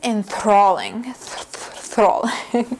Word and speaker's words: enthralling: The next word is enthralling. If you're having a hard time pronouncing this word, don't worry, it is a little bit difficult because of that TH sound, so you just keep practicing.